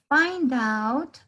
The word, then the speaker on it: find out: So, thinking, y tenemos por acá find out, al igual que sign up o que summer, ustedes van a escuchar un sonido de una A en este caso. Find out, find out.